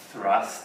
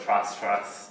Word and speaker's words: Thrust: pronounce his name, because you have to pronounce it with the H. Okay. Thrust. Okay. Whereas most people would just call it Trust.